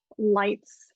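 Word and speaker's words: Leitz: Germany and uh the winery is spelled l-e-i-t-z lights and they make a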